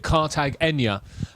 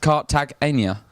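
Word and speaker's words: Cartagena: you say it yeah some people call it cartag Ena uh but she of course was the lady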